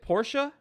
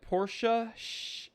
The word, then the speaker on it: Porsche: arnold schwarzenegger is it porsche is it porsche or porsche uh i say porsche and in german it's like porsche it's not porsche it's porsche so but also you know